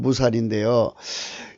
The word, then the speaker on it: מוּסָר: 발음은 무살인데요. 여기 우리말하고 비슷한 것이요. 무살은 우리말에 비슷한 것이 있는지 무술이에요. 무술. 비슷하죠?